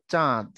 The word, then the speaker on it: চাঁদ: উচ্চারণ হবে কি চাঁদ যখন আমি উপরে চন্দ্রবিন্দু দিব তখন নাসিক্য ধ্বনি হয়ে যাবে এটা নাকের প্রভাব পড়বে তখন তার উচ্চারণ হবে চাঁদ আচ্ছা যখন আমরা এটার